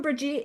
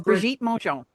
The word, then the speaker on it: Bridgette Mongeon: Welcome, Brigitte. And am I pronouncing it properly? Is it Brigitte or It's Bridgette Mongeon.